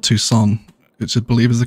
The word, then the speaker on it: Tucson: took some time compass of education ah yeah toxin i got called out for that one in the comments big time yes toxin university everyone yes i now realize it's called tucson it should believe is the correct pronunciation am